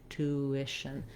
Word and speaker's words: tuition: round rounded shape to the unrounded shape to tuition so you can think of there being a